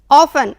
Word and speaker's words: often: ऑफन, OFTEN, often means अक्सर। The next word is mistake, गलती, mistake means गलती। आप यहाँ बच्चों देख रहे हैं टी, लेकिन ये टी साइलेंट है।